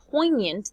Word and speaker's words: poignant: poignant it's an adjective remember poignant the G is silent indefinite is deeply affecting